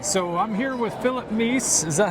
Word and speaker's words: Meese: All right, so I'm here with Phillip Meese. Is that how you pronounce it?